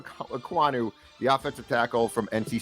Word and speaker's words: Ekwonu: Last name, small ECK hyphen capital WAHN hyphen small EW. I think you're damn close, if not. Akeem Ekwonu.